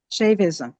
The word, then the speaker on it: Shaivism: Sha- Shaivism? How do you say that? Shaivism. Shaivism, okay. Shaping a mystical ministry that bridges inner transformation and prophetic social change.